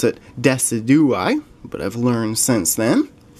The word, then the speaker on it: Decidueye: Decidueye pack now, and I used to pronounce it Decidueye, but I've learned since then.